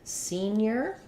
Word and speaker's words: senior: and the unstressed syllable and then the stress syllable is like the word scene um seen near senior it's probably easier to think about the end as being on the first syllable even though technically we might have seen near the NY Glide near um just think about it like scene your senior you just don't make a break so you need to